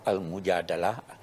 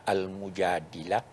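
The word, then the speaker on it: المجادلة: Memang surah ini, surah Al-Mujadalah, ada juga yang membacanya Al-Mujadilah, unik.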